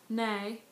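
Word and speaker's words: nej: no no and then you also stress the first syllable nay now the dangling Tagore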